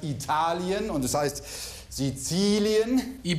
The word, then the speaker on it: Italien: Es heißt nicht Italien, sondern es heißt Italien und es heißt Sizilien.